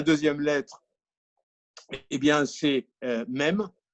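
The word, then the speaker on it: mem: lettre et bien c'est même et même ça se prononce aussi maime il ya le mât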